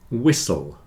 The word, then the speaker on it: whistle: a long Castle sound whistle and listen you hear that in all of these the t is not pronounced especially in Words with a STL spelling Castle whistle listen Castle